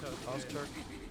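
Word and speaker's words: Öztürk: Ozturk? Ozturk.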